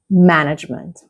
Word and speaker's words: management: Okay, in this case, the stress is on the first syllable, is right at the beginning. Management, not management or other types.